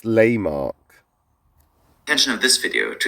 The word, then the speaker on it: Lehmark: Okay, so it's pronounced Lehmark. Lehmark. Out of all the micronations I've done, this is the one that I've actually mispronounced, and I thought I'd actually got it right. So it's not Lehmark, it's Lehmark.